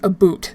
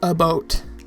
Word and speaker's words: about: my daily speaking also it's not pronounced a boot as a lot of people want to think it is it's pronounced a boat a boat a boat